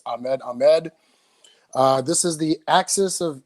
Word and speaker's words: Ahmed Ahmed: is Ahmed Ahmed for the people that count pronounced my name properly it's Ahmed Ahmed this is the axis of evil 12 year